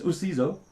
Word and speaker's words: Usizo: say the word it's Uso nowo is a Zulu word and uh it just